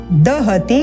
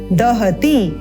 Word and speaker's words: दहति: छिन्दन्ति शस्त्राणि ण शस्त्राणि नैनम दहति, दहति नहीं है, दे ना बोलें, इसको बोलना है द जमा अ मिलकर बनता है द। दहति पावकः, यहाँ पर आप